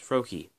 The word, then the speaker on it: Froakie: it's fro KY but the a is silent so it's froakie yeah he's just a